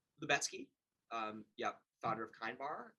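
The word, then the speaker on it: Lubetzky: Lubetsky.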